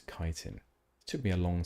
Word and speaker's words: chitin: I always pronounced it chitin or chitin or something like that. When I first realized it was chitin, it took me a long time to reset my brain.